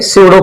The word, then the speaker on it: pseudo: अब हम बात करेंगे सडो फोर्स की लास्ट सबसे लास्ट टॉपिक आपका क्या है चैप्टर का सडो फोर्स यहां पर बेटा P साइलेंट होता है।